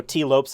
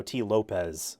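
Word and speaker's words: Tee Lopes: uh so U Tes that is how he pronounces his name I heard him pronounce it so I'm like yes it's not you know T Lopez um it's t Lopes anyway composer of Sonic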